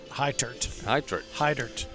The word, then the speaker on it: Heitert: Heitert. There you go. Like high dirt.